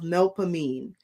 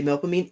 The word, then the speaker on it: Melpomene: This symbol, you know, it is called the it is the sign of Melpomene.